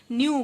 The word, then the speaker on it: knew: दोस्तों इस वर्ड में देखिए स्पेलिंग में सिर्फ के का फर्क है, एक न्यू में के आ जाता है फिर भी उसको हम न्यू बोलते हैं, और दूसरा NEW को भी हम न्यू बोलते हैं।